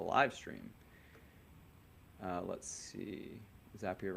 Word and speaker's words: Zapier: zapier zapier it's apparently zapier because they they have the whole thing that Lou uh mentioned here zapier rhymes with happier as they say but